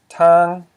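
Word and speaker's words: ທາງ: Because a low consonant, t, plus a live syllable, an, equals a high tone.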